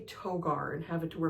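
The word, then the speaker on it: Toghar: Toggar or it's Toar. It could be Toggar. T O G H A R I'm gonna say Toggar and have it to where maybe the H is silent to.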